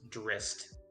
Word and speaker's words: Drizzt: So it's actually supposed to be pronounced Drist.